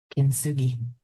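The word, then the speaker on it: kintsugi: Yeah, spell it. K I N T S U G I Kinsugi.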